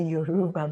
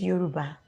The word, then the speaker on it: Yoruba: or talk to me when i was a you rugba man but it's yoruba that's the pronunciation it's yoruba and i understand you he's